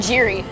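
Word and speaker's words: Geri: e r I yeah hi pronounce it I pronounce it Jerry Jerry Jerry Jerry well because my uncle's at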